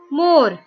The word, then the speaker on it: more: More. E is silent.